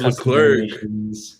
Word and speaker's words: Leclerc: Charles Leclerc. Leclerc, my bad. I keep saying his name wrong.